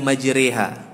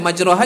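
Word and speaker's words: مجريها: apa namanya kursi roah maka dibaca bismilahi majreha WA mursaha nggak papa kalau kita baca majroha juga nggak papa tapi kita ikuti riwayat kita riwayat kita ini lewat kita bacanya Gan dari Imam Azim itu namanya beliau dalam real ini membaca majroha menjadi majreha itu saja dari itu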